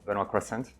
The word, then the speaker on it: Benoit Croissant: So, first of all, you pronounce my name very well, Benoit Croissant.